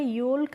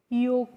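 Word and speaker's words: yolk: एल के और इसको हमें योल्क नहीं पढ़ना होता है पहले क्योंकि जब भी किसी वर्ड में एल के बाद बच्चों के आता है तो वहां पे हमें एल को क्या रखना होता है? साइलेंट रखते हैं। इसीलिए हम इसको योल्क नहीं पढ़ते हैं। योक पढ़ते हैं।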